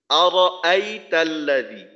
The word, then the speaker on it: أرأيت الذي: যায় আওয়াজটা রো না রয়ের জবরটাকে স্পষ্ট রাখা আরাআইতাল্লাযী প্রত্যেকটা হরফের উচ্চারণ হরকতের